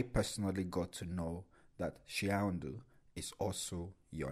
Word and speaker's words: Shiaondo: I was pronouncing your name as Shiaondo, but now I know that the right pronunciation is Shiaondo.